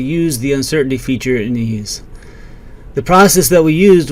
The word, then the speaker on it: EES: EES, which is pronounced ease, is an acronym for Engineering Equation Solver. In our last few videos, we talked about how to use the uncertainty feature in ease.